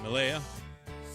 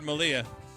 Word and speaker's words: Malia: Malaya? What'd you say her name was? Malia? Married Malia.